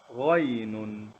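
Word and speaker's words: غين: So if you look at me now, if you wanna try and pronounce this letter correctly, I think it comes from here, somewhere in the throat, right?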